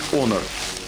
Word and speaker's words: Honor: на ролике компания канарах он кому как нравится говорить говорят правильно говорить конор ну да ладно компания